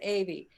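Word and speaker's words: Ewy: And it's spelled, yeah, E-W-Y. Yeah. But my mom always pronounced it Avey.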